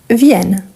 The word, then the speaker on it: viennent: Donc, on double le N parce qu'il faut ajouter le ENT et la prononciation au singulier et au pluriel doit être différente. Exactement ça. Donc, c'est pour changer la prononciation du singulier au pluriel et en plus avoir la même terminaison.